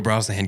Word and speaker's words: Brosnahan: Brosnahan.